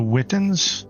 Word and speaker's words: Witan: joining up with the clan over here, the Witans. I think I pronounced that correctly. Is that right, Chunky? The Witan?